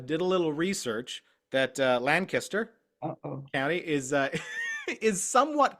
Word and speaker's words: Lancaster: Oh, no, sorry, Lancaster. I pronounce it Lancaster because that's just what I've heard, but I was told it's Lancaster. That's how the locals pronounce it correctly.